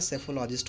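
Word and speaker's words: psephologist: option answer हो जाएगा यहां पर पीस साइलेंट रहता है सिर्फ इसकी स्पेलिंग पर ध्यान दीजिएगा कि यहां पर साइलेंट रहता है और ऐसे इसका जो प्रदर्शन होता है सैफोलॉजिस्ट होता है रिवर का मतलब जानते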